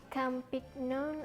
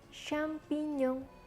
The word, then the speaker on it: champignon: wrong atau jamur Hai ini bacanya bukan champignon atau Champions tapi samping Young samping Young Ok Google